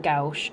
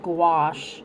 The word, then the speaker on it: gouache: was pronouncing it wrong it's not gouge it's gouache like squash which is gonna be